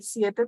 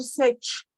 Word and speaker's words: siete: siete tiene un acá El Siete tiene un diptongo tenemos que marcarlo bien y no podemos decir sech tenemos que pronunciar esto viene abierto siete Siete sí a que